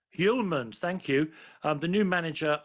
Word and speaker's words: Hjulmand: Now then, Casper, help me with the pronunciation of Casper's surname, Andy Hoyland? Hjulmand. Hjulmand, thank you.